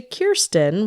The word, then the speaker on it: Kiren: to pronounce my name so my name is actually Kiren rhymes with beeren great way to remember